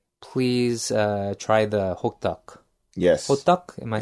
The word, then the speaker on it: hotteok: Hotteok?